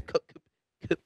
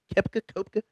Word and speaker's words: Koepka: is Brooks Kopka. Kepka. You know, sometimes with the O, they have you pronounce the E. It'll mess you up. Yeah, it's that German.